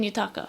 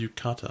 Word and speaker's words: yukata: But you see some people in Yutaka. Is that how it's pronounced? That is Yukata.